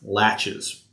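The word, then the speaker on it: laches: It's spelled L-A-C-H-E-S, latches. It's kind of a funny word.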